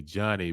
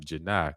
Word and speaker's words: Johni: oh doing pretty good I know your name spelled j-o-h-n-i but some people say Johnny but it's spirit it's pronounced Janai correct correct correct yeah